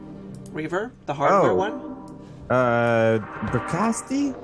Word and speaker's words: Bricasti: Oh, it's the closest emulation of the Brischetti reverb, the hardware one. Bricasti? Yeah, I never say it properly because Yeah. I'm French.